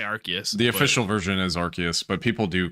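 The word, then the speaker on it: Arceus: Pokemon Legends um I did want to play archus is that how you say it archus no one knows dude like there it's archus is such a despite online between archus and arus and I I always say archus the official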